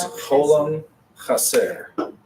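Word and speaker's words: חולם חסר: The second one is Holam Chaser. Cholam Chaser. That's what it looks like. But it's Holam Chaser.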